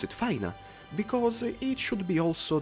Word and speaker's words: Fina: Yes, a lot of you say Fina, but I've always pronounced it Faina, because it should be also the correct pronunciation according to the official transcription.